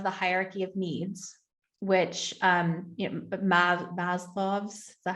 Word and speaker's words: Maslow: Okay, so this reminded me of the hierarchy of needs, which Maslow's, is that how we pronounce it?